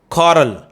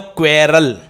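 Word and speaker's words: quarrel: क्या हो गया बेटा ये? कॉरल. आप बोलते हो क्वेरल.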